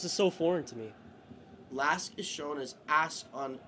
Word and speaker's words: LASK: like it's an AC the name is an acronym. So like do you just pronounce it Lask? Like is that correct?